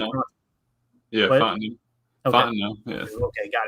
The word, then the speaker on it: Fontenot: Yeah, Fontenot.